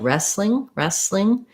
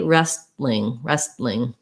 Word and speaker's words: wrestling: So we kind of either drop it entirely or we make a stop T. So if I were to drop it, it would sound like wrestling. To make the stop T, wrestling. I think it's easier and more natural to do just dropping it. So that kind of sounds like wrestling, first syllable stress, wrestling. Great.